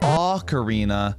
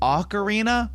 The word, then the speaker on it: ocarina: karina why might we say a karina sometimes in English that is because we are speaking in English and it's a borrowed word from a different language but again is ocarina really correct? Let's think on borrowed words. When you borrow words from another language, they typically change to follow the subsequent languages pronunciation rules.